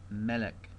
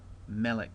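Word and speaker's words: מֶלֶךְ: And then we have Melech. Melech, the accents over the first syllable there.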